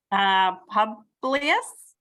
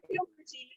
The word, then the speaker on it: Publius: Publius? I don't know how you say it. Good, not Puberty.